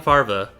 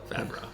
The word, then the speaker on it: Favreau: And John Farva does Star Farva? Wars. Favreau? Favreau.